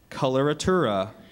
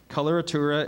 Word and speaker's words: coloratura: word could be confused with a similar word coloratura coloratura definition please the florid ornamentation in vocal